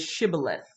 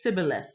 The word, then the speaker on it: Shibboleth: you see in the chat the chat is Shibboleth Shibboleth but the people don't eat from side they couldn't pronounce that so they says sibilance sibilance and yeah now we're all caught up